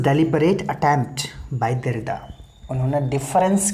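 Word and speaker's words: différance: अच्छा देखिए, इसको अलग करने के लिए लोग प्रोनाउंस करते हैं डिफरेंस, है ना, लेकिन जैसा विकिपीडिया बताता है वो कहता है कि नहीं, इसमें डिफरेंस नहीं है, दोनों का प्रोनाउंसिएशन एक ही है, आपको स्पेलिंग में अंतर समझना होगा। This is like homophones.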